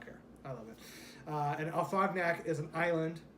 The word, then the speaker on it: Afognak: And Afognak is an island. It's spelled phonetically, Afognak, just how you would think.